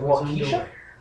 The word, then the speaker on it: Waukesha: Is it Waukesha? Is that how you pronounce it? No clue. Waukesha, Wisconsin? Waukesha, thank you.